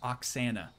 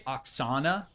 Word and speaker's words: Oxana: say her name again it's Oxanna Oxana some people do try to say Oxana which she accepts obviously it's not not going to try to tell people no you're wrong that's not how you say my name um but yeah just Oxanna uh maybe the I'm